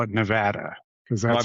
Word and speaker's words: Nevada: I gota I guess I need to come out to Nevada. You know, Tools talking about playing at Well, first you got to call it Nevada because that's how that's pronounced.